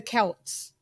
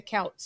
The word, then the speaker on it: Celts: So they're the Celts. Yeah. So we never pronounce it the Celts. I don't understand why you guys do, because it's C. Celt.